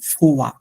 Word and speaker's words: fois: দিই যেহেতু মনে পড়ছে, এটাকে আমরা উচ্চারণ করলাম ফোয়া, এটা হচ্ছে ফোয়া, লাস্টের হ্যাঁ, লেটার নাই, উচ্চারণ করব না। আর যখন হ্যাঁ, হচ্ছে ও আই থাকবে তখন উচ্চারণটা হয় যে ওয়া, ওয়া, তাহলে হচ্ছে ওয়া, হ্যাঁ, আচ্ছা, তাহলে এবার